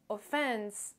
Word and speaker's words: offence: c'est le mot offence offence et là vous devez remarquer que l'accentuation se fait sur la deuxième syllabe et non pas sur